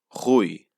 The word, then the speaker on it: Rui: of help so in the first name we pronounce it hui so the first letter it's the r we pronounce it with the uvula back there like the french it's our big r